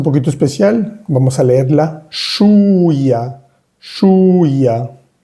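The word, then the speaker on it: chouïa: Cuando veas la I con dos punticos, que sucede muy pocas veces en francés, vas a pronunciar bien esa I. Shuya. Y la OU suena U. Shuya. Esta OU la vimos anteriormente en el primer renglón.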